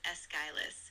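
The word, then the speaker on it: Aeschylus: Yes, that's pronounced as Eskilus.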